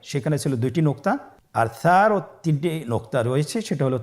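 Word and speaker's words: ثاء: ছিল 2টি নোক্তা, আর সারও 3টি নোক্তা রয়েছে, সেটা হলো তার উপরে। তাহলে 3 নোক্তাওয়ালা হরফটিকে কি বলে? সা। আবার বলুন সা। সা হরফটি বারিক মানে পাতলা করে উচ্চারণ করতে হবে।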